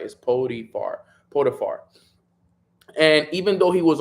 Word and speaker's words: Potiphar: So it continues and it says Joseph ended up in Egypt, working in the house of a man named Potiphar.